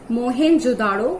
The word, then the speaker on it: मोहनजोदड़ो: बोलना चाहती हूँ कि इसकी सही प्रोनाउंसिएशन है मोहनजोदाड़ो। इसको हम इंग्लिश में कहते हैं मोहनजोदाड़ो और हिंदी में कहते हैं मोहनजोदड़ो। तो ये इसका डिफरेंस है हिंदी और इंग्लिश का।